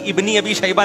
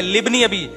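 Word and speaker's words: لابن أبي شيبة: अबे भाई इब्नी अबी शैबा नहीं है, लिब्नी अबी, ये अलिफ साइलेंट है, ये हमजा वसलिया कहलाता है, इसको लिखा जाता है, पढ़ा नहीं जाता।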